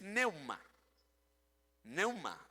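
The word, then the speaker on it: πνεῦμα: Se escribe con la P al inicio. Pneuma es lo que traduce el griego, la manera de escribir pneuma, pero la traducción o la pronunciación es neuma. Neuma.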